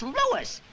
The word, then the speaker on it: Louis: the plant Lois Lois me name is Lois not Lois J whiz everybody in toates me name wrong it's Lis l o u i s Lois uh Louise